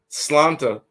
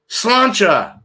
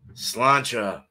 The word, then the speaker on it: Sláinte: Slanta. I forgot how to say it again. Damn it. Slanta. Slanti. Slanto. Slante. How do you freaking say that again? Sláinte. Damn it. Sláinte.